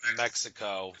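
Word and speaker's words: México: Other thing about Mexico, which, by the way, it's actually pronounced Mexico. In Spanish language, the X is pronounced like an H.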